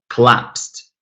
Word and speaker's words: collapse: And then H, 2 syllables, and the second one is stressed, collapsed.